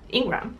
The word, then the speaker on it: Ingraham: and I really liked Laura Ingraham Ingram Ingram that's the pronunciation Her speech was good